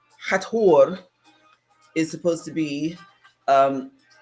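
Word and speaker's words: Hathor: they mispronounced her name hatur is supposed to be um with the T and the H broken up not together like the H um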